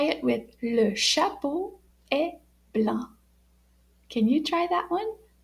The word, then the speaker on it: blanc: here we go so white in French is pronounced blah can you try that blah and it's spelled